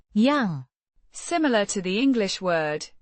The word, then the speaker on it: yang: A relative pronoun meaning that or which pronounced yang.